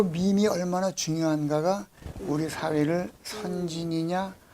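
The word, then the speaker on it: meme: MEM이라고 쓰고 밈이라고 읽어요. 밈이라고. 나온 지 한 15, 16년, 거의 20년이 훨씬 더 된 단어인데 그래요? 요 밈이 얼마나 중요한가가 우리 사회를 선진이냐 후진이냐를 결정하는 열쇠예요.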